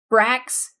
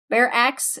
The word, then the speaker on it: barracks: Brax. In the Brax. Barracks. Barracks is how you pronounce barracks.